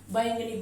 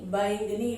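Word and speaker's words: बैंगनी: பை இங் க நீ. பைங்கனி சொல்லாம பைங்கனி. ஏன்? லாங் சவுண்ட், சோ அதனால ஸ்ட்ரெஸ் இங்க இருக்கு. பை இங் க நீ பைங்கனி.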